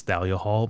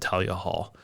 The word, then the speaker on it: Thalia Hall: Is it Talia Hall?